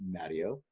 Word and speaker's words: Matteo: members will be upset Americanized our name is Matty oh and like a lot of my family says